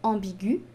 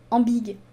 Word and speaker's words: ambiguë: ambiguë et aigus ciguë le tréma sur le e veut dire que je dois prononcé le u je dois dire ambiguë et je ne dois pas dire en big depuis la réforme de